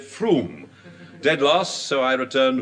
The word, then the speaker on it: Frome: On Wednesday, I went down to Frome in Somerset to find out why everyone pronounces it Froome.